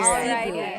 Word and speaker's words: Cebu: Is it Cebu or Cebu? So technically, in the Tagalog alphabet, the letter E can be pronounced F or the right translation.